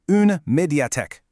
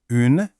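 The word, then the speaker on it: une médiathèque: Our first key term is undiate. Let's try saying it slowly together. Undat. Good. Now, a little faster. Undiate.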